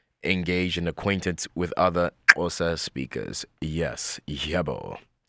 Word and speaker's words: Xhosa: Pronounce with me, Xhosa. Not Xhosa, not Xhosa, but Xhosa.